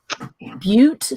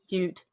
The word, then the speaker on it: Butte: Butte 1917 is the license plate. License plate. Or is it butt for the goat? But it's from Montana. So how do you pronounce that city? Butte. Butte, 1917.